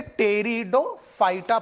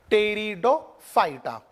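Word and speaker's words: Pteridophyta: fight आ stir में बच्चों piece silent है इसे टेरिडोफाइटा पढेंगे पड़ी आप लोग एक मतलब अब तेरी डॉग फाइट आप और एक बार बोलिए टेरिडोफाइटा और इस ग्रुप प्लांट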